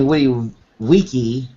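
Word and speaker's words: vici: well anyway when witty weaky was what apparently uh Caesar said that and uh the letter V the letter V in Latin is pronounced like a w so Winnie when he W weaky uh I came I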